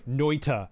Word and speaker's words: Noita: So yeah, man, I haven't played Noita in a while either. That game is great. It's a great game. Sorry, Noita, because pronouncing the T bothers Sarge.